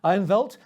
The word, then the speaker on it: Ironveld: chief executive of aim-listed ironvelt to give it his south african pronunciation ironwelt listed on aim with